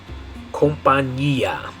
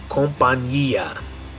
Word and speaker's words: compañía: In English we'd say company. Company, like a business, a company. In Spanish, the way you're going to say it is compañía. Compañía. In English it's company. In Spanish it's going to be compañía. Good, here's our next one.